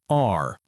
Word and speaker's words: are: It is pronounced like the letter R.